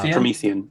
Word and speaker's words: Promethean: Wow, I think I pronounced it wrong. Promethean.